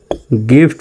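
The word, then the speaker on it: gift: জি আই, জির পরে আই আছে, তারপরেও জির উচ্চারণ গর মতো হবে, জি আই একটি গিফট উচ্চারণ হবে, গিফট, গিফট, গিফট, এরকম উচ্চারিত হবে, গিফট।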